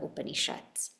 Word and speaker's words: Upanishad: mainly based in the Upanishads. And the word is very interesting because it tells us what it does. And it can be broken down in 3 syllables. Upanishad.